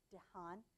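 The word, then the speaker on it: Dehaene: de hain calls it dehaan i think is the way he pronounces that i keep getting that wrong dejan it's critical to improving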